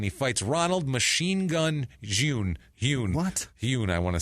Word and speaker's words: Jhun: Because they were like Ronald June. It's Jun.